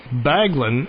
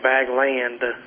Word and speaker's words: Baglan: Baglan is always, at least in Kentucky, they will mispronounce the name Bagby, Bagwell, but Baglan, you sure your name is Baglan? What kind of butchering does your name get in Mississippi? Bagwell is the biggest, but... and Bagland.